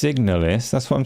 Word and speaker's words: Signalis: isn't it pronounced Signalis?